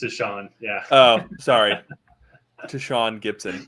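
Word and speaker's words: Tashaun: say his name oh is it Tashan Tashan yeah it's just Tashan yeah oh sorry tan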